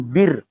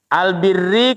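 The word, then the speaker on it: البرّ: itu bnya dibaca fathah ba Ini dibaca bibirri ya tapi jangan disukun bir nah beda lagi nanti kan ya kalau kita bacanya bir jadi minuman nanti kan ya albirri kebaikan albirri kebaikan tansauna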